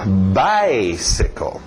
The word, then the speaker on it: bicycle: Importante bater no by. Depois nós veremos porquê, mas mantenha o ritmo do inglês. Lembra, o português tem o seu ritmo, o inglês tem o seu. Então, bicycle. Morre no final.